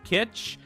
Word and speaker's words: Kitch: number 11th uh kitch kitch pronounced similar to Kit as in kitchen kit k Sorry K